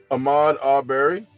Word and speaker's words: Ahmaud Arbery: How do you pronounce his name? Ahmaud Arbery? Ahmaud Arbery.